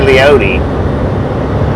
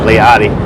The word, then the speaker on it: Leoti: I want to say the name of this town I want to say leoti sure if I'm pronouncing that correctly or not probably not leody Kansas 389 let's go let's go let's go that is rad heck yeah finally gets finally get a pronunciation there I should have said liotti Hometown versus pay uh